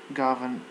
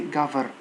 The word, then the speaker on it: govern: the Argentinian government governments govern govern don't say cover govern because written are pronounced in the same place okay so governments the